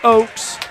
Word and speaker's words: Oaks: play to foul out of the game Grant Oaks checking in O HS it's pronounced Oaks Landon harelson up at the free throw line